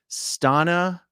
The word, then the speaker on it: Stana: thank you very much Stana rhymes with Donna Stana rhymes with Donna